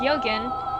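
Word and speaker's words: 予言: Uh, Yogen and Yogen are both pronounced Yogen, but their meaning is entirely different.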